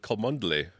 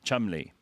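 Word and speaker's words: Cholmondeley: I would go with Kandley. Kandley for Ben and Shandley. No, Chumley.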